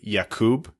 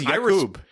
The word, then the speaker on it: Jakub: It's actually, if you want to pronounce it properly, Jakub, but he says he's okay, or even prefers just Jacob or Jake.